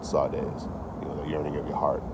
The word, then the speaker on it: saudades: In Brazilian Portuguese, there's a word for it called saudades. Now, it's not spelled how you think it was spelled. It's like saudades is how it's spelled, but it's called saudades.